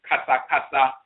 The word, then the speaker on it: kasa: Actually, it's not KS, or they put 2 E's in it, ket. In Akhan, it's kasa, which means to chatter foolishly. It means foolish talk, foolish debate, argument, and that kind of thing. Foolish chatter. It means that in the Medusa, kas, but it's actually pronounced kasa, in the Akhan language.